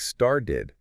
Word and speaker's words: started: And also the ED ending, when it comes after a T or a D sound, it's pronounced as a separate syllable, like aid. So putting that together, started, can often sound very much like started when spoken naturally.